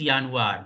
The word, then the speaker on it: Januar: are the 12 months first month is yanuar that is January how you pronounce j is y as you have seen that in German we say y j is equal to y y so yan yan February MCH April May